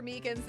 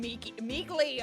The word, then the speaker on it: Meekins: Actually, Officer Meekins at the detention center told... that poor little doggy. Poor guy. I keep getting his name wrong and calling him Meekly.